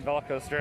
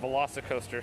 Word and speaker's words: VelociCoaster: construction update i'm sorry i've been been saying volcoster i said tj has been pronouncing as soon as i saw how it was written i was like uh that's velocicoaster i mean seeing signs for it but i didn't really stop and think about that it was actually pronounced velocicoaster so i apologize if